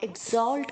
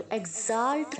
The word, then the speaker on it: exalt: इसका प्रोनाउंस आपको ई के आगे जो एक्स है वो जी की तरह साउंड होना चाहिए और जो ए है वो ओ की तरह साउंड होना चाहिए। तो exalt नहीं बोलना, exalt।